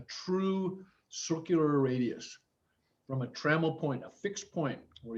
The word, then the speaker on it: trammel: it needs is a travel point it says right there and that's not correct it's a trammel point it's spelled t-r-a-m-m-e-l trammel point and it's the basis